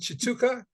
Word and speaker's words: Tshituka: former Ballroom dancer uh his name is Chuka did I pronounce it right he actually did that's